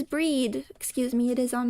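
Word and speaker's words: Bríd: Sometimes they're all attributed to the one called Brid. Oh, it is breed.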